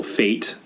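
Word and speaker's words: fête: Right, a local fete, I believe, as it's pronounced.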